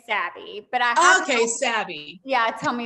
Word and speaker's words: Sabbe: does what is it it's like abby with an s so we say savvy but okay yeah tell